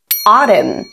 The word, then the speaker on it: autumn: Thông thường letter N sẽ bị câm. Ví dụ autumn, autumn, column, column.